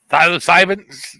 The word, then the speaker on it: psilocybin: We were talking about the psilocybin. However you say that word, God damn it. Psilocybin. Anyways. The P is silent.